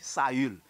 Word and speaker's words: Saül: Sous U, c'est ça que fait, il dit Saul, il dit Saül. Chaque fois qu'on a un tréma sous U, il faut des U à prononcer.